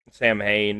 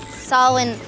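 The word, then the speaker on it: Samhain: Sam Hayne, if you want to mispronounce it.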